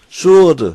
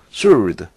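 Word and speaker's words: sword: and steer 불 술도 이거 발음 조심 하세요 수 어드 수은 이렇게 바람 하면 안되요 w 가 바람 되지 않습니다 거의 칼 검 이것을 나타내죠 솔드 술도 w 가 발음 되지 않습니다 조심해서 요 우 소가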